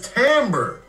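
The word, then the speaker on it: timbre: trickery it's just word it's tamber yeah but look how it's spelled t i m b r e this is the trickery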